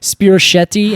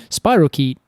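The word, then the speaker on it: spirochete: I know I know what is it spirashetti and I said I I just like pronouncing it that way and everyone's like I'm pretty sure it's like Spiral key oh funny I like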